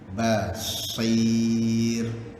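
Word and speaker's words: بصير: Basir. Sir. Ingat bacaan tu ada 3 yang kita kena fokus. Senyum, silap. Menganga, senyum, memuncung. Ba, menganga betul. Ba, kemudian sir, senyum. Kena senyum. Basir.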